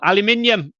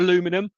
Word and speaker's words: aluminium: Aluminium, my American friends, it's spelt and spoken aluminium, not aluminum.